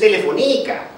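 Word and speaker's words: Telefónica: Actually, more exactly, this is, if you spell it, if you pronounce it correctly in Spanish, which is where they're, this is Telefonica.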